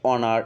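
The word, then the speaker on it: honor: আবার তুমি চিন্তা করো অনেস্ট, অনার, এখানে এইচ থাকা সত্ত্বেও উচ্চারণটা কার মতো হচ্ছে, অ এর মতো, অর্থাৎ ও এর মতো, এজন্য কি বসবে এখানে অ্যান বসবে।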